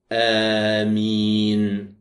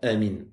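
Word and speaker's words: آمين: En allongeant les voyelles, c'est-à-dire qu'il prononçait bien Amin. Et ne pas prononcer ce mot rapidement comme certains le font. Amin. Tu prends le temps de le prononcer en allongeant bien les voyelles et tu le fais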